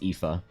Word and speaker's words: Aife: So her name is Aife, A-I-F-E, but she insists that it's pronounced Ifa.